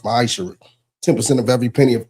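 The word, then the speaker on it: maaser: chapter 3 verse 8-10 means 10th in Hebrew and it's pronounced misher 10% of every penny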